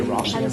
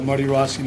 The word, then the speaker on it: Rossian: You say Rosian rather than this. If you want the Armenian pronunciation, but Marty Rossian is the Anglo pronunciation. It's Marty Ross and Ian.